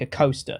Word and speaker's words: Acosta: Anderson the roller coaster Robert Acosta pronunciation is like a coaster it literally said like right after it it says that the roller coaster Robert a coaster the venerable uh finally